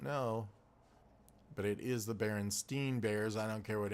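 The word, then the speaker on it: Berenstain: remember asking my mother is it spelled like Stein said like Stein or Steen when I was like a little kid and she said Steen so why would she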